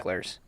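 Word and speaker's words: Mickler's: I believe it's pronounced It is, yeah. Micklers.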